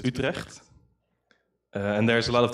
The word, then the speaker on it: Utrecht: is Utrecht and then that's how they say it in English or how the Americans say it in Dutch in my language we don't have a the Utrecht we have a for all the geez so it's retract and there's a lot